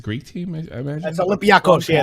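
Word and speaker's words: Olympiacos: Olympios. How do you say that? It's a Greek team, I imagine? That's Olympiakos.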